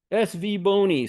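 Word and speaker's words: SVBONY: Uh how do you pronounce this company's names? SV O N Y SV Bony SV Bony says Howard.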